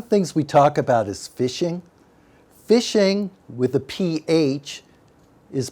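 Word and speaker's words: phishing: so what is fishing fishing pronounced fishing with a pH the fraudulent practice of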